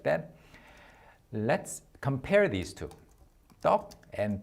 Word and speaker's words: 떡: 발음 더 연습해 보실까요? 연습해 봐요. Let's type it like that. Let's compare these two. 떡 and 턱. 떡 and 턱.